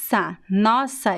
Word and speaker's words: nossa: Nossa is open.